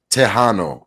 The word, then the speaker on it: Tejano: It is again Tejano.